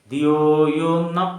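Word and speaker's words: ധിയോ യോ നഃ: ഭൂർഭുവസ്വ തത്സവിദൂർവരേണ്യം ഭർഗോദേവസ്യ ധീമഹി ധിയോയോന്ന എന്ന് പറയണം ചിലര് ധിയോയോന എന്നാ പറയാ ഇവിടെ നന്ു പറഞ്ഞാൽ എനിക്ക് വേണ്ട എന്നർത്ഥം ഈ സുഖസമൃദ്ധികള എല്ലാം എനിക്ക് ന വേണ്ട പക്ഷേ ന എന്ന് പറഞ്ഞാൽ തന്നാലും ഈ സുഖസൗകര്യങ്ങള എല്ലാം തന്നാലും എന്നാണ് അപ്പോ ആ ഒരു തെറ്റ് വരാൻ ഇടയുണ്ട് വളരെ ശ്രദ്ധിക്കുക ദിയോയോ പ്രചോദയാത്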